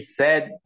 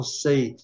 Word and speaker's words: said: Só que a pronúncia, viu, 99% dos brasileiros, 99,9, falam say, porque eles são induzidos, né, pela pronúncia do verbo principal, say, say. Mas a pronúncia desse aqui é said.